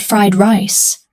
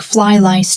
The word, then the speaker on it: fried rice: Now, if you're listening, you know the man really wanted fried rice, but his pronunciation was wrong. Instead of fried rice, it sounded like fly lice.